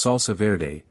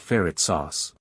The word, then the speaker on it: salsa verde: After he left, I told her it's salsa verde, not ferret sauce.